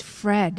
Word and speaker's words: Fred: Yeah, well, And you said his name wrong. It's Fred. it's Fred. Yeah.